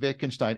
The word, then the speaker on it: Wittgenstein: But I've been hearing people now do this other thing, because they do the same thing with Wittgenstein. Every generation switches between the V and the W pronunciation.